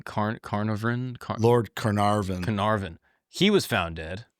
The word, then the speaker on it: Carnarvon: Shortly after unearthing King Tut, how do you pronounce his name? Carnarvon? Lord Carnarvon.